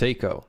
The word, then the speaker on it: Seiko: It's pronounced Seiko.